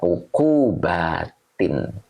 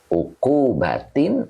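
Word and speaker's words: عقوباتٍ: ternyata di sini ketemunya Isim bentuk jamak muannas Salim ini dibaca ukquubatin ya uku batin mudhaof ilaih yang dijirkan dengan kasrh yang bertanwin karena jamak muannas Salim nah begitu ya Oke jadi ini dibacanya uku batin Oke Nyambung kan mulai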